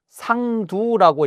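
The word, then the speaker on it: 桑土: 그렇게 아직 그런 상황이 안 됐을 때 그때 철피 상도하야 저 상두를 요걸 두라고 읽고 흙토자가 아니고 두라고 읽는데 상두라고 읽으면 이게 뽕나무의 뿌리입니다.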